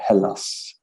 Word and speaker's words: Hallas: name of everything but it is halas correct or is it like how am i what is the proper way to say it for an english jerk like me you could say it that way i say hellas okay okay i want